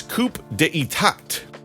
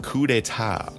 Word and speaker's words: coup d'état: You might have read that as coup d'état, but it's pronounced coup d'état.